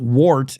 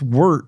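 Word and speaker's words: Wort: It's not Wart, it's Wirt. You know, if you listen to anybody pronounce it correctly, it's named after the Wirt brothers, and they'll always say Wirt as if it were W-E-R-T and not O-R-T.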